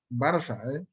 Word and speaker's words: Barça: escribiendo este barca o se escribe barca pero se pronuncia barça es exactamente igual entonces